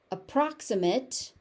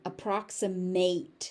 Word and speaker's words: approximate: So we've got approximate and approximate. So if you're using it as an adjective, it's an approximate. If you're using it as a verb, you are approximate to approximate.